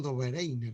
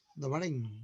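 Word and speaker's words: Döbereiner: Se habla claramente de el famoso, bueno, nosotros nos pronunciamos como Dobereiner, ¿no? ¿Sí? La pronunciación correcta es, como acá es diálisis, ¿no? Es Dobereiner, ¿no?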